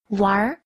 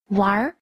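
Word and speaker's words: 玩儿: Wár. Wár. Từ này đọc là ván và uốn lưỡi ở cuối.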